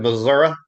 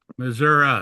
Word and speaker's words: Missouri: Cuz you said Missouri. We don't pronounce the I, we pronounce it as an A. Mhm. Yep. Missouri.